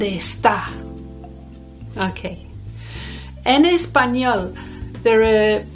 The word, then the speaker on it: está: the accent's on the second part of the word so it wouldn't be like our name esther it'll be almost as if the e at the beginning isn't there donde esta okay an espanol there